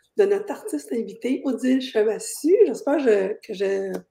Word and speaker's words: Chevassus: Alors aujourd'hui, on va découvrir le feu sacré de notre artiste invité, Odile Chevassu. J'espère que je prononce bien ton mot, ton Oui, nom. effectivement, le dernier S se prononce pas.